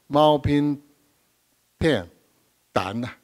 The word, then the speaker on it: Mao Ping Tan: Our second speaker is Professor Mao Ping Tan. That's the pronunciation by Taiwanese, very similar.